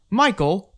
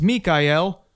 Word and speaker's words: Michael: crashing against your legs michael also pronounced mikael governs the element of